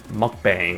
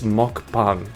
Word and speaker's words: mukbang: And by the way, I hate one of my pet peeves is people mispronouncing that. People pronounce it like mukb mukbang or something. It's like that's not how you pronounce it. I mean sure that's looks like how it's pronounced, but it's like it's mukbang. It's mukbang. It's like that's how that's how you it's not mukbang. It's like that's that's incorrect.